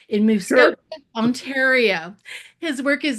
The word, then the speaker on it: Muskoka: Andrew is a fine art landscape photographer based in Muskoka. Did I say it right? In Muskoka, Sure.